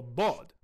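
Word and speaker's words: ضاد: We also know the sound was voiced and emphatic, like the modern bod, which is corroborated by Sibawayh. Using all of this evidence, a number of different proposals have been put forward for bod's classical pronunciation. Take this sound, for example, blo, which is a combination of emphatic D and emphatic L.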